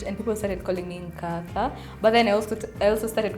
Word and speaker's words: Nkatha: I'm also mispronouncing it because yangu it's sounding a bit bougie. Inafaa kusound Nkatha hivyo. Bougie? Nkatha, that's my name.